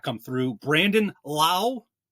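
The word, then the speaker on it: Lowe: Brandon Lau. I said it right. Lau, not Low.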